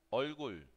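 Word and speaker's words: 얼굴: Cara, olgul, olgul. Esta pronunciación es que no existe en español.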